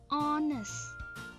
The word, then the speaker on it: honest: Contoh di sini, tulisannya honest ya, tapi dibacanya adalah honest ya. Walaupun tulisannya ada diawali dengan H, tapi dia bukan huruf konsonan, melainkan vokal ketika dibaca.